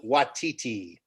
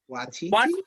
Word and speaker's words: Waititi: Taika Waititi. Watiti? Watch the extras, Frank. He explains how to pronounce his name. It's actually and Watiti. Oh, is it Waititi?